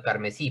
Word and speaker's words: carmesí: ¿Por qué es aguda carmesí? Porque la tonicidad está en la última sílaba.